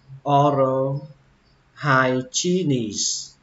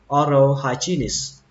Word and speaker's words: hygienist: các bạn đọc là oral hygienist. Âm hài này là xuống giọng các bạn nhé, và lên âm chi này xuống giọng âm nis. Oral hygienist.